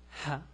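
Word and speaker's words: ه: The pronunciation is ha, is like the H in English.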